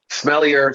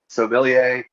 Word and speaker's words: Sommelier: yes yes yes and it's certainly not smellier i just want to make that clear we're not talking about